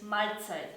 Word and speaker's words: Mahlzeit: Very typical is Mahlzeit.